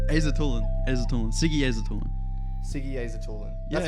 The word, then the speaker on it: Aisatullin: Aisatullin.